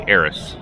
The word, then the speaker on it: Aerys: Most people around here call me Aerys, but where I come from, it's pronounced more like Harris.